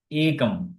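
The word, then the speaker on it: एकम्: এখন এটা উচ্চারণ করতে হবে কি? একম বলতে হবে একম।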